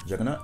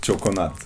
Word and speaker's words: Çokonat: Juggernaut? Not juggernaut. Choconut.